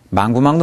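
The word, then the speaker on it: 忙不忙: 이때 부는 뿌 아니고 부로 납니다. 왜냐하면 이렇게 선택형 의문문이 되면 뿌는 당연히 나오는 걸 알기 때문에 아주 약화됩니다. 그래서 망부망 이렇게 됩니다.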